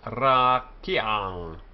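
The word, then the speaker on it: רקיע: However, the patach under the ngayin is not treated as a vowel. It's called patach furtive because in pronunciation it steals in before its consonant.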